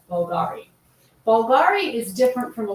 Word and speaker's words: Bvlgari: The name Bulgari is often styled with a V instead of a U like in this logo, but it's still pronounced as Bulgari.